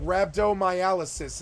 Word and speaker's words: rhabdomyolysis: these systemic effects are caused by a traumatic Rhabdomyolysis is how you say that word it's called